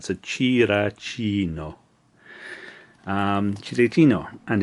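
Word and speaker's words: チラチーノ: So the Japanese name for Cinccino is Chirachino. That line means that you elongate that. So Chirachino.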